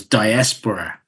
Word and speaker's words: diaspora: The emphasis is on the S. It's on the second syllable, so it's diaspora is how you say it.